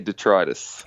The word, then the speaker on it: Detritus: I say Detritus. Detritus. That's how I pronounce it in the song, at least.